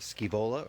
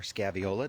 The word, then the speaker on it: Scaevola: Now we do have 3 different colors of Scaevola or Scaviola, depending on how you like to pronounce it.